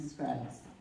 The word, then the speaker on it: Scruggs: So if Staff Sergeant Scruggs, did I say your name right? He said it rhymes with bugs, so Scruggs.